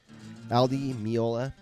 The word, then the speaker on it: Al Di Meola: Al Di Meola.